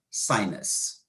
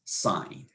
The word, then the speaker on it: sine: And then we eventually shortened it to SIN, and because it's pronounced as sin, and that's not a very good word to pronounce, so they started pronouncing it as sine.